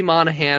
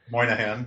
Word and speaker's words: Moynihan: is about uh yeah joseph gordon-levitt voices bobby monahan is also in it moynihan you've mispronounced his name if i didn't know that